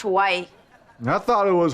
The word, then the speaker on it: Hawaii: promised prize the trip to Hawaii it's it's pronounced Hawaii and I thought it was horror Warrior dice needs the girls to hide Doomer while